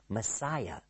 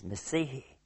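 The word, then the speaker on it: מָשִׁיחַ: the Old Testament, Messihi, which we as English speakers usually mispronounce and we say Messiah. But in fact, it is Messihi.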